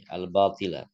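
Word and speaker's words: الْبَاطِلَ: Nah, itu al-batila, bacanya al-batila atau al-batil, Ustaz ya? Iya. Wahum la yuriduna illa al-batila. Al-batila. Mengapa al-batila? Karena al-mustasna, mustasna itu adalah isim yang terletak setelah hadatul istisna, setelah illa.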